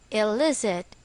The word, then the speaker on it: illicit: is still the same El is it the stress is on the second syllable for our exercise fill